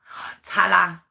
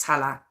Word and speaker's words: Tallaght: It's spelled Tallaght. Talla. That's how I've heard it pronounced, Talla.